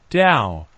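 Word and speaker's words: 倒: There's also the tradition of hanging fu, characters, good fortune, symbols, upside down, because the words for upside down and arrive are both pronounced Dao in Chinese, so an upside down fu means good fortune has arrived.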